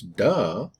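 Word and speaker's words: 德: into english as well right pronounce duh some people translate it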